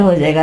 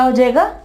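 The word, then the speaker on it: whose: ठीक है, इसके अलावा रैंच, इसके बाद रैंच, यहां पे देखें W साइलेंट हो जाएगा, रैंच। और रिस्ट, क्लाई को कहते हो रिस्ट, W के बाद R है तो W क्या हो जाएगा, साइलेंट हो जाएगा।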